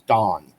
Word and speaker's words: Dan: His name is Don. So it's Dan. So it sounds like Don, but it's spelled Dan.